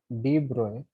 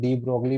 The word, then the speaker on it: de Broglie: ही was unable to explain, he was unable to explain de Broglie, डी ब्रोए, इसको कई लोग डी ब्रोगली भी बोल देते हैं, वो करेक्ट प्रोनाउंसिएशन इसकी डी ब्रोए है।